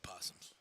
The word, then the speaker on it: opossum: You don't pronounce the O. You know what? It's just possums.